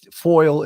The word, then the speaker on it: FOIL: little it sounded for he didn't pronounce that uh exactly but it's foil is a a Freedom